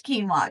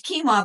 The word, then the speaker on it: quinoa: I never used to say it, but it is quinoa. Just in case you've never said it out loud so you don't embarrass yourself at a party with friends. So, it's quinoa, but the way it's spelled it's qu i n o a.